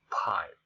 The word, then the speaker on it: pipe: Unlike this one, if we say this word pipe, we try to pronounce this word with by giving pressure to the air. That's what I call aspirated P.